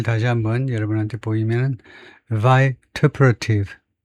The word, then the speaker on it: vituperative: 그래서 발음을 다시 한번 여러분한테 보이면 vituperative, vituperative.